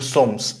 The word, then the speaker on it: sommes: By the way, we don't say nous sommes, we say nous sommes. We don't say that S, okay?